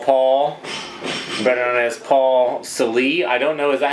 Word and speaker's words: Salee: Salee? I've heard it all. So it's spelled with 2 E's. I've actually been called Sale. Sale? Like garage sale, and I'm like, dude, there's 2 E's on the end of this name.